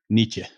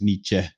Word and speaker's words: Nietzsche: No, I think the actual pronunciation is Nietzsche. Like just letting it stop. I don't think you actually pronounce E at the end, but yeah.